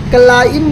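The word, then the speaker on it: climb: बी मैंने जैसा कि आपको बताया बी साइलेंट है। बी नहीं पढ़ा जाएगा। क्लाइम पढ़ा जाएगा।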